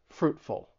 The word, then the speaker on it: fruitful: pretty simple and straightforward the stress is on that first syllable and that t in Fruit it's a stop te fruitful fruitful then we have the